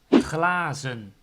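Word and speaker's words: glazen: have a glass cheers single is plural is claazen so the first of all the s changes to a z and there's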